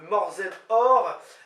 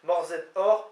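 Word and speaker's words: morzhed hoc'h: Vous pouvez y ajouter, si vous n'êtes pas très sympa, du jambon, donc morzed or, M-O-R-Z-H-E-D, espace H-O-C apostrophe H, morzed or, C apostrophe H, on sait que ça se prononce R.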